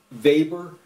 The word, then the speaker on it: Weber: MERS use of what's called Weber that's the german pronunciation of that man's name vapor electrodynamics to calculate the